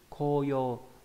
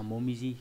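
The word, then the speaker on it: 紅葉: Ví dụ trong từ koyo là hồng diệp, là lá đỏ. Và đặc biệt trong một từ nữa cũng viết là chữ hồng, chữ diệp nhưng đọc là momiji, cũng nghĩa là lá đỏ thì khác với nhau.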